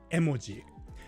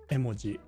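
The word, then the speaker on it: 絵文字: But so in Japanese, if you're saying the word emoji, it's not emoji. It's not emoji like we say in English. It's emoji. Emoji. It's like they're all even.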